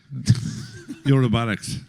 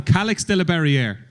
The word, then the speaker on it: Calyx de la Barrière: Eurobarics. It's like watching Hannah reading the book with Emma. Calyx de la Barrière, I think is how you pronounce it, Shark.